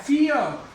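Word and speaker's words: fear: जो शब्द जिनमें आर अंत में आ रहा है, जैसे फियर वर्ड, अंत में आर आ रहा है, फियर, तो फियर इसमें भी आर का उच्चारण नहीं होगा।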